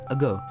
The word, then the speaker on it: Ago: usually call me by my nickname ago yes it's pronounced like long time ago I am an